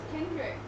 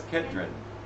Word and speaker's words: Kedrin: I thought your name was Kendrick. No, it's Kedrin.